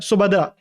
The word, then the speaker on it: सुभद्रा: सुभद्रा है या शुभद्रा है? सुभद्रा, SU है ना, सुभद्रा।